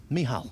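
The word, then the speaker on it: Michal: By the way, the the C apparently in the youngster's name is silent, so it's Mihal.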